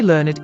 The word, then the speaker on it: learned: You can see a remnant of this in the word learned. We say that word in one syllable in the sentence. I learned a lot from him. But pronounce it as two syllables in. He was a very learned individual.